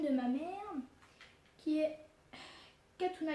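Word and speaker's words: Khatouna: voir la chaîne de ma mère, qui est Katuna Gadelia. Voilà, juste c'est son prénom et son nom. Katuna, ça s'écrit K-H-A-T-O-U-N-A.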